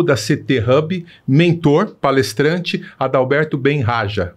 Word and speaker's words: Adalberto Bem Haja: estamos recebendo CEO da CT Hub mentor palestrante Adalberto Ben Raja pronunci correto corretíssimo Muito obrigado sua presença aqui tá